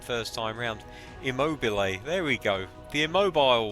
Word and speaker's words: Immobile: Immobile, there we go, the immobile one.